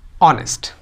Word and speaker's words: honest: तो यहाँ पे एच को देख करके हम लोग कन्फ्यूज हो जाते हैं और यूज कर देते हैं ए का, लेकिन आपको देखना नहीं कि क्या है, उसको प्रोनाउंस करके देखना है कि उसका साउंड क्या आ रहा है। तो उसका साउंड क्या आता है?